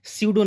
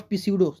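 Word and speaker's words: pseudo: सडो name. ठीक है? नॉट पिसडो। That is सडो।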